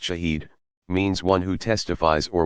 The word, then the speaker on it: shahid: The Arabic word shahid, pronounced shahid, means one who testifies or witnesses, and is thus more or less equivalent to the word martyr.